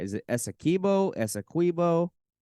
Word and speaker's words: Essequibo: I want to make sure I pronounce it right. Is it Essequibo? Essequibo? Essequibo, you said it right the first Essequibo.